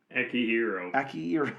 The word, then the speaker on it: Akihiro: Akihiro. Okay, sorry. I've heard it pronounced different ways by different people, but sure.